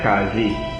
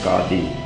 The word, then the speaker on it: Qadi: In Trinidad they call it Qazi. The correct pronunciation is Qadi.